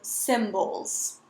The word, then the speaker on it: symbols: It looks like a Y, but it sounds like an I, so symbols.